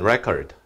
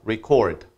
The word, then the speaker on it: record: 그러면 record, 이건 명사고요. record 하게 되면 동사인데요. 발음이 좀 달라지죠?